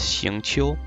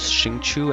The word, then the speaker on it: Xingqiu: The correct pronunciation for his name is Xingqiu. So both Xingqiu and Xingqiu are both close enough pronunciations.